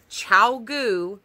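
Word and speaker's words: ChiaoGoo: a size 7 or a size 8 16-inch Chow goo circular needle the brand name is Chow goo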